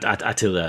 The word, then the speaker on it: Attila: It's like a different pronunciation, right? Attila. Yeah, Attila is how they say it.